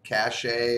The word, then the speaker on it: cache: gigahertz 8 Meg of toll cachet or cache whichever way you want to pronounce that but I've heard it both both ways we're going to go